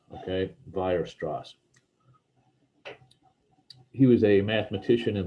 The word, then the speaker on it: Weierstrass: and they might say we're strauss or something like that but um it's a german name that the w is actually pronounced like a v so vire strass okay virustras he was a mathematician